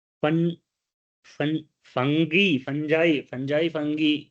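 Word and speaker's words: fungi: फन फंगी फंजाई फंजाई फंगी फंगी को ही बोलते हैं। फंजाई बहुत लोग गांव में फंजाई फंजाई भी बहुत लोग बोलते हैं। तो फंगी बोलते हैं। फंगल इंफेक्शन को फंगी बोलते हैं। और फंगी क्योंकि स्पेलिंग में जी होता है तो फंजाई फंजाई बोलते हैं बहुत लोग।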